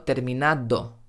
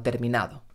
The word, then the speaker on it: terminado: vamos a la de he terminado terminado no estoy diciendo terminado sino terminado por eso muchas veces el participio en español pierde la d y terminado acaba convirtiéndose en terminado